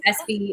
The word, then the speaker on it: S-B: that's dot productions sv is how my name sounds phonetically my last name um and you can